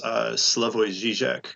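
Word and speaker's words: Slavoj Žižek: That's this way I've heard it pronounced, which I think is correct, is Slavoj Zizek. It's the French J sound.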